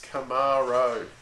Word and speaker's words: Camaro: grates me as well could people learn how to pronounce Camaro properly there's no eat in it it's not a Camaro its Camaro okay that's just I'm not